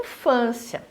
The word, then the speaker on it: infância: a primeira palavra em infância então eu falo infância infância infância ou infância em infância olha lá então em van é a sílaba tônica entrar nela que vai